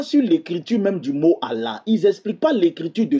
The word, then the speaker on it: Allah: On écrit ça juste pour insister sur la phonétique pour dire Allah. Mais pourquoi on insiste pour bien prononcer pour qu'on sache qu'il y a il y a un double L qui est caché dedans qu'il faut bien prononcer ?